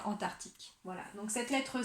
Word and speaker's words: Antarctique: Et c'est pareil pour l'océan Antarctique, parce que du coup, on entend le mot arctique dans Antarctique.